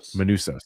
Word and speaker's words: Manousos: How do you pronounce it? I always get it wrong. Manousos.